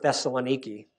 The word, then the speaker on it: Thessaloniki: Although they're very important because it's a route into the Balkans from the port of Thessaloniki. And Michael, that's how you pronounce it, by the way.